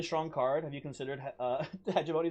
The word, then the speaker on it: hegemony: Have you considered Hegemony is pronounced with a hard G?